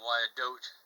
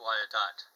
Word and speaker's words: Wyandotte: a trained expert that i keep saying why i don't and it's probably pronounced why it dot whether it's correct or